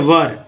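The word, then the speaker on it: were: ठीक है, वर तो क्या बोलते हैं इसको? वेयर नहीं बोलेंगे, वर बोलेंगे। ठीक है, वेयर बोलने का अर्थ हो जाएगा कि कहाँ।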